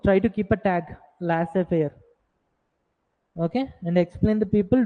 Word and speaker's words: laissez-faire: Okay, and we'll call it as laissez-faire. Z is silent over there.